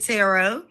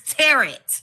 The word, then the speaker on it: tarot: like the ter cards I said tarot that's fine and she said no Mom it's teret so I guess it's however y'all want to pronounce I call it tarot um let's get into